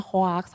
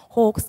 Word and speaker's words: hoax: pernah ya hugs hoax tulisannya hoax bacanya tapi Hok Gie Ya aku juga Wow biasanya hoax hoax hoax tapi ternyata dikasih tahu kalau yang bener aja bacanya hooks gitu hop ini adik-adik mungkin